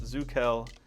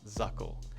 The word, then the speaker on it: Zuckell: And yes, it's pronounced Zuckell and not Zuckell.